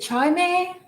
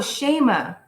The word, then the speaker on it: Shayma: to pronounce your name is it chimei did I say that right or can you type it so I pronounce your name right I have you on the list oh shayma I pronounce that totally wrong my bad then we